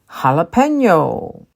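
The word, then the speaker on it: jalapeño: like a a and jalapeno is a Hispanic word the J in Hispanic language is used you pronounce as an H jalapeno tortilla this is also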